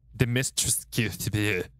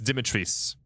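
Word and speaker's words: Dimitrescu: castle by the way it's castle dimitris it is not the mystery it's dimitris they they made a point to pronounce it that way here we go chat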